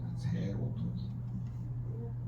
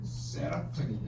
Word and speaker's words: 세로토닌: 바뀌냐 행복으로 세로토닌 바뀌 세로토닌 세라토인 아니고 세로토이에요 발음을 세게 하면 새요 세로토닌 자 세로토닌을 멜라토닌을 바꿀